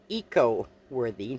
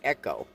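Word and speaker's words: Eco-Worthy: saying their name wrong it is called Eco worthy not Echo and throughout this I kept saying Echo it is ech worthy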